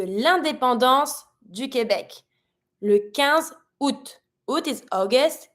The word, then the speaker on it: août: Then we have la fête de l'indépendance du Québec, le 15 août. Août is August. Careful pronunciation. Don't pronounce the A in this one, but you're going to pronounce the rest.